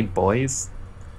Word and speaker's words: buoy: Part tracks buoys in space miasma. In Britain we say boys. Oh, okay. So I always find it like really cool that word is pronounced buoy.